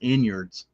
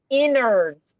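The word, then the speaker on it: innards: Timmy, I've never So, I've never heard it pronounced inyards. Neither have inards. You know, something inards. It's supposed to be inards, not inards.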